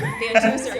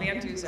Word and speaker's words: VanDuzer: VanDuzer, yeah, just like how it's spelled, VanDuzer.